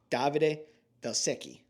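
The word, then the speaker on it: Davide Valsecchi: Davide Velsecchi, I think is how you pronounce it. Correct.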